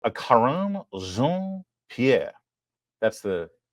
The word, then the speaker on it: Karine: a karer that's the correct Haitian pronunciation Pier Peter Ducey asked her about the